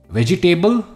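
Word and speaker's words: vegetable: की तरफ जो है वेजिटेबल इट्स वेजिटेबल अगेन हम इसमें एबल नहीं कहते इसमें हम एबल नहीं कहते हम कहते वेजटेबल वेजटेबल the chef use organic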